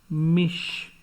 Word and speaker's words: mich: example does book out otherwise it is a palatal sound as in mich so apart from a oh you or a you if they come before any word come before CH then CH will gives will give sure sound mich Welsh weekly pression in